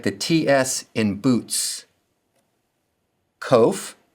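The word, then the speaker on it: ק: Kof sounds like the k in king. The kof and the cough sound alike.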